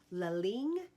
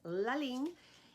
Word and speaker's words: Ligne: And this brand is called Ligne, and the reason that I know that is how you pronounce it is because they have something in there and it says Ligne, and it is really, really beautiful.